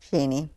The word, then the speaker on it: Cheney: know there's been some talk about how to pronounce Cheney, and it's just become Cheney in today's world. How do you say it? Cheney.